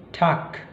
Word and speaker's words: Tag: Namun kalau G itu ada di akhir maka dia akan diucapkan seperti K, misalnya Tag, Tag, Teig, Teig, dan Zug, Zug, ya.